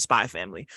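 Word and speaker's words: Spy × Family: it's uh it's um it's spelled spy X family but the x is silent it's just I think I think you just pronounce it spy family it's like 23 episodes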